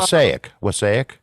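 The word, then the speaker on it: Wassaic: Oh, Um, Wasaic. yes. Okay. Yeah. Wasaic. Yeah. Okay. Yeah. Yeah. I always pronounce it wrong.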